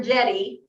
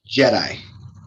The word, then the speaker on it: JEDI: i get that right it's no longer jetty you're it's jedi jedi okay your joint emergency